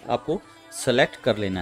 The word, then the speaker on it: Seoul: यहाँ पे मैं आपको स्पेलिंग बता दूँ, SEOUL, सोल, सोल के नाम से सिटी यहाँ पर डाल देना है।